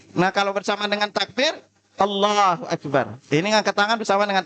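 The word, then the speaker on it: الله أكبر: bersamaan dengan takbir Nah kalau bersamaan dengan Takbir Allahu akbar ini ngangkat tangan bersama dengan Takbir yang kedua takbir dulu baru ngangkat tangan Allahu Akbar Ya itu cara kedua cara ketiga mengangkat tangan dulu baru Takbir Allahu akbar nah tiga tiganya boleh kita variasiin ya tiga-tiganya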